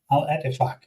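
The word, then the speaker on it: Al-Ettifaq: Al Ettifaq.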